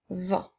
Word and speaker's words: vent: on continue avec le vent le secret le ensuite nous avons le son et le son 1 qui s'écrit ent encore une fois nous avons un T qui est une lettre muette on peut utiliser le